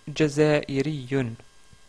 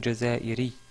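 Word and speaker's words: جزائري: C'est le mot Jazairiyun, Jazairiyun ou Jazairi si vous arrêtez sur le mot.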